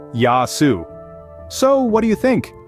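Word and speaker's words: γεια σου: greeting each other with a hearty Gayu pronounced yasu so what do you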